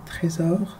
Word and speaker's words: Trésor: It's called Trésor, or Trésor if you want the French pronunciation.